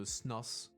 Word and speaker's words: snus: Probably I don't pronounce it well, but it's a chewing tobacco that is typical from Northern Europe. So exactly, raspberry. Which is like a big thing, and like the like snooze. Okay, snooze.